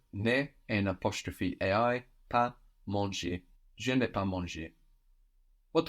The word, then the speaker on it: mangé: the ER ending, and then manger with an E with a written accent, meaning eaten, but sounding exactly like to eat, manger. So, I have eaten. J'ai mangé.